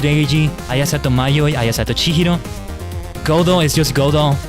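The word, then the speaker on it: Godot: Godo is just Godo. Apparently the T, even in English, the T at the end is not meant to be pronounced, like it's Godo.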